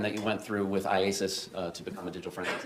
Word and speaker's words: IACIS: IASIS, yes.